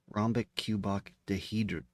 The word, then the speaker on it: rhombicuboctahedron: Rhombicuboctahedron.